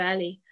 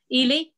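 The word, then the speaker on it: Ehle: and prejudice the colin firth version and jennifer ellie um i'm not sure if that's how you say her name i've never known ely thank you um and noticed mrs hill and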